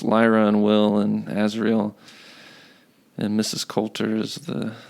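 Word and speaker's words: Asriel: pronounce it. No, it's Lyra and Will and Azriel, and Mrs.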